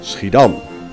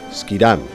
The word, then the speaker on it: Schiedam: This was done in the town which almost gave her name to the drink, Schiedam, or, as the English pronounce it, Schiedam.